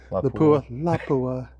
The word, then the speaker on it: Lapua: All right, so on the left there is 6.5 Creedmoor, and on the right is 338 LAPUA. That's how they actually pronounce it. LAPUA.